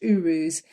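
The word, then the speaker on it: Uruz: let me remind myself it's Urus it's pronounced Urus and those two like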